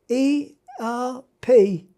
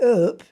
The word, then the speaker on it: Erp: But when we got to a little village spelt E-R-P, we called it Erp. Proper pronunciation is Erp.